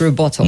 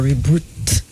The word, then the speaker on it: rebuttal: It's rebuttal and not reboot.